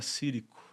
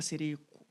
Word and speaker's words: Cirico: Coloca o Instagram da Rebeca Cirico. Pronunciei correto o sobrenome? Isso. Rebeca Cirico.